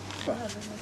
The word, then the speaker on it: pho: For at least 5 years, I've some mispronounced of you that have word. been trying to teach us to say pho.